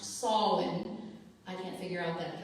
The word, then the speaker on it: Samhain: It looks like Samhain, but it's pronounced Samhain.